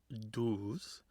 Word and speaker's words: doos: it's a doos klekken, which is a Scots pronunciation of dove, doos, and klekken, or klekking, which means hatching.